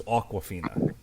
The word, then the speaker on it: Awkwafina: that's Aquafina this is awkwafina it's pronounced the same way but it's spelled differently yeah like a like